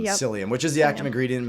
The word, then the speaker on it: psyllium: So we'll do um You mean you mean pacilium? Pacilian. Yeah. Yeah. I know people always ask me how to spell it.